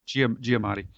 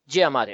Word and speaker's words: Giamatti: c hall and paul giamatti hope that is pronounced right giamatti giamatti okay it each reads from from a story